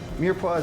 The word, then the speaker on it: mirepoix: Mirepoix is basically carrot, celery, and onions. Oh, and I totally butchered that name.